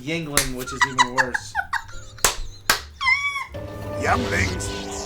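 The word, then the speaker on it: Yuengling: me spit on my youngling ever again do you know what that sounds like a little sucking on a younglings thank you actually it's pronounced Yingling which is even worse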